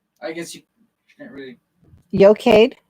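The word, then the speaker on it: Eochaid: guess you can't really yocade is yokaid is the e-e-o-c-h-i-d-h um and and yocade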